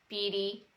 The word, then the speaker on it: Beatty: i pronounced that right beady like warren beatty warren listen to me